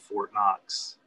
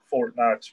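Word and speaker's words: Fort Knocks: is a brand called Fort Knox, which it's obviously, I live in Kentucky. You have the building of Fort Knox spelled K-N-O-X. Mine is spelled K-N-O-C-K-S.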